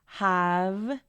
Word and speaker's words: have: una y ahí tenemos have la e no se pronuncia tenemos el sonido de